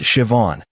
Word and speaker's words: Siobhan: Her name was Siobhan, pronounced Siobhan. She taught me after I butchered it three times.